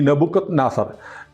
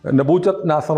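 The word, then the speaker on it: Nebuchadnezzar: സാധനം തൂങ്ങികിടക്കുന്ന പൂന്തോട്ടം ചരിത്രത്തിലുള്ളതാണ് ഈ നബുക്കത് നാസർ നബൂച്ചത് നാസർ എന്നും പറയും ഉച്ചാരണം രണ്ടു തരത്തിലാണ് അപ് നബുക്കത് നാസർ നിർമ്മിച്ച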